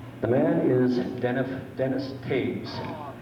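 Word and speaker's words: Toews: ago Tuesday evening the man is denn Dennis Taves it's uh spelled t o e WS but it's pronounced Taves t a v s at the present time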